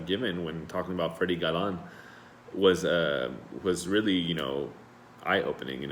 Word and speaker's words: Galan: So, for example, his name was Freddie Galan, so they would call him like gallon, referring to like a gallon of milk, and they would tease him about it.